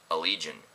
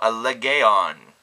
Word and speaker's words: Allegaeon: it's kind of interesting that their name is pronounced allegion whenever you look at it you kind of think oh a leon I thought it was neat maybe you don't